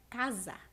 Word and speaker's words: casa: Porque na palavra casa, a letra S assume som de Z.